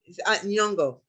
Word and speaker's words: Nyong'o: And his love interest in the movie, I know her first name's, but I can't pronounce her last name, but you know who I'm talking about. Nyong'o. Nyong'o.